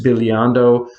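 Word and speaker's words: bisbigliando: they're called color trills or in italian this billiando which is spelled b i s b i g l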